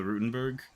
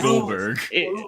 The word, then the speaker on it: Goldberg: I'll I'll get the Rutenberg with a side of fries did did I say it wrong what what is it Goldberg Goldberg.